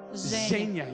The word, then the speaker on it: Женя: Zhenya. Yeah, it sounds like Z.